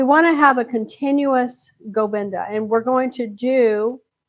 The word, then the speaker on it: Govinda: Govinda, right? Govinda, Govinda, Govinda, Govinda, Govinda, Govinda. So in the first 7 rounds, it's on the first syllable.